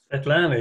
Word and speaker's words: Svetlana: Svetlana. Is that how you say it properly? Svetlana, yeah.